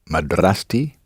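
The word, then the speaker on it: مدرستي: end of a word feminine word ending in aa and T pops out yes there's a spring and a little T and it pops out and instead of being pronounced ah it's pronounced her so how would you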